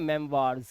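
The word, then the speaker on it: memoirs: बट ओ आई का उच्चारण वाह भी होता है। जैसे यहाँ पर हम इसे देखेंगे ओ आई लिखा हुआ है बट यहाँ पे आवाज आ रही है वाह की, तो इसे पढ़ते हैं मेमवार्स, क्या पढ़ते हैं मेमवार्स।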